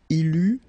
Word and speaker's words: eut: Il eut, final T not pronounced.